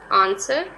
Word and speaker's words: answer: hustle t is silent answer w is silent boom b is silent